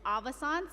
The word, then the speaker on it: Avaissance: the air on pronunciations it's avisons like Renaissance and you know if